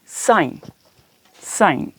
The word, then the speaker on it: sign: और N के दरमियान, अगर I और N के दरमियान G आ जाता है, वर्ड जी, तो क्या होगा कि यहाँ पर G जो है ना वो साइलेंट हो जाएगा, खामोश।